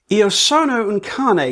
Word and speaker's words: Iosonouncane: Iosonouncane, because now I actually know how to pronounce it and don't do that stupid British thing of trying to pronounce it like it's an English word.